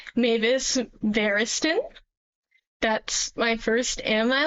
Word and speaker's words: Mavis Variston: This is my name and that's how you pronounce it. It's Mavis Barristen.